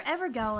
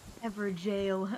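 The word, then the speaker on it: Evergaol: Is it another Evergal, I wonder? Yes, it is. Whoa. Yes, I know it's pronounced jail. Gal is funnier. Everjail.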